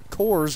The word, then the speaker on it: Coors: yeah according to cal most people will say coors right coors rhymes with yours a newer trend is